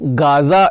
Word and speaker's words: Gaza: का गठन हुआ है गजा में। फिर से बताता चलूं, गाजा इज नॉट a good pronunciation. गजा एक सही प्रोनाउंसिएशन माना जाता है, गजा हिंदी माध्यम के लिए खासकर।